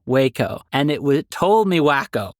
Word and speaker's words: Waco: Second, I actually looked up a pronunciation of Waco, and it told me wacko, like an audio recording in which someone's like, here's how you properly pronounce it.